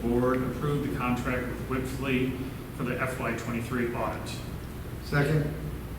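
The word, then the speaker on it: Wipfli: Gibson, prior to his retirement, was able to locate this company, pronounced Whipflea, odd name, but that's the auditor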